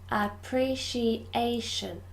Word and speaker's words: appreciation: this is quite difficult there are two sounds and five syllables appreciation ah pre she a sure appreciation this syllable the fourth syllable is stressed appreciation appreciation good number